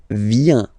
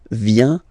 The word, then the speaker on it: vient: Il, elle, vient. Final T not pronounced. Il vient.